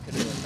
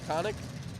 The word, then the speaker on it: Connick: It's not Canoic. I asked her earlier. Yeah, I'm pretty sure she said it was Connick.